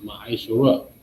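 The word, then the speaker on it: ma'aser: It means tenth in the Hebrew, and it's pronounced Ma'aishara, 10% of every penny of any increase the Lord gives you to the Treasury Department or teacher.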